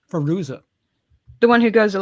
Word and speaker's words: Fairuza: Fairuza.